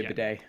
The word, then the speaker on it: bidet: Is it bidet? Because I guess it's French, so you don't pronounce the T, right?